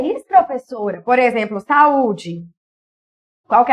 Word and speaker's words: saúde: Por exemplo, saúde. Qual que é a sílaba tônica?